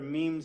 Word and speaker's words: meme: what memes are, whether memes are good or bad. A meme is successful or not, whether it's lethal or whether it's benign. So, meme rhymes with cream, smallest unit of replicating thought.